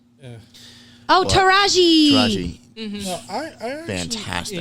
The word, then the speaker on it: Taraji: Yeah, Tarja? I don't know how to pronounce her name. Oh, What? Taraji.